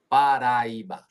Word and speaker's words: Paraiba: Paraiba.